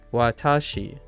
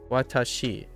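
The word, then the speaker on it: 私: banana you think of Watashi Watashi in so Watashi Watashi in so Watashi so Banana Watashi Watashi so you go low high low and um native speakers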